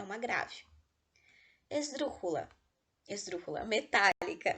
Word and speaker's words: metálica: Esdrúxula, metálica. Metálica é uma palavra esdrúxula, porque a sílaba tônica é a antepenúltima e todas elas levam acento.